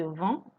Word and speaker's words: vends: Je vends, tu vends, il vend, elle vend. So they are pronounced the same way. Whether there's an S at the end or no S at the end, same pronunciation.